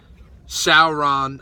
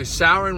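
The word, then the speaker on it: Samhain: there's a three-day period it's called something like Sauron I know Sauron is the Karen from Lord of the Rings it's spelled sa MH a Rin or something like that but it's called like sour and I think it's sour and it's how they say it basically Souren was a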